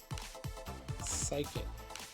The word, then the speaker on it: psychic: So It's going to be our screens uh running yawn and psychic psychic. The key is silent.